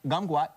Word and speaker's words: kumquat: For the Chinese, kumquat, one of the languages, it's pronounced gumquat, which means golden orange.